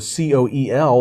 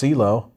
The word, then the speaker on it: coel: How do you pronounce this thing that starts with a C-O-E-L? It looks like Coel, and it's pronounced CeeLo.